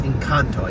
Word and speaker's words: Encanto: i don't really know i think it's in kanto not just in kanto it's in kanto you gotta kind of put an ant in there uh there was pixar